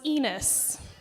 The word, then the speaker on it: Enos: His last name was Ridgway, and my maiden name was Enos. Yes, rhymes with penis.